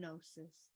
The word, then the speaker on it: gnosis: the self Beyond knowledge it is the silent G and gnosis yesterday we dance a